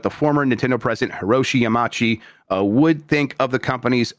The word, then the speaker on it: Yamauchi: Miyamoto was asked what former Nintendo president Hiroshi Yamauchi, or Yamauchi, I'm not supposed to pronounce the U, I don't know how to say it, would think of Switch 2 sales.